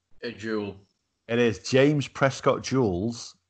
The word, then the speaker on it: joule: How's that pronounced? A joule.